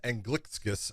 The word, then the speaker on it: Anglickas: Well, it played out because Julius, and his name is Anglickas. I know that's a weird way of saying it, but that's actually how they say it in Lithuania. But he actually fought in